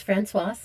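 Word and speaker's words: Françoise: girl named franois and I'm not just saying that wrong it's not franois with a silent s cuz she's female there you say the S the end so her name was franois the feminine form of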